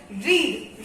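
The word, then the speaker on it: read: और जैसे गो, फिर कट, रीड, रीड में कुछ लोग कंफ्यूज हो जाते हैं कि स्पेलिंग गलत है या फिर प्रोनाउंसिएशन गलत है, लेकिन स्पेलिंग सेम रहती है, प्रोनाउंसिएशन आपको बदलनी पड़ती है। Just like रीड, रेड, रेड।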